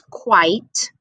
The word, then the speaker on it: quite: So the I says its name and the E is silent. So this says quite, and this says quiet.